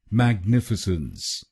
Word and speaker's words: Magnificence: तो बनेगा मैग्निफिसेंस, मैग्निफिसेंस। मैग nif since, mag nif since, मैग्निफिसेंस, मैग्निफिसेंस। और ये ध्यान में रखिए कि हमको दूसरे शब्दांश पर यानी NIF पर जोर डालना है।